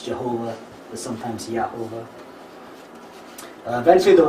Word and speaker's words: Jehovah: If you read that phonetically, it says Yahovah, which isn't the way that Yod He Vav He is pronounced in Jewish scripture, but that's how we get the name Jehovah in English.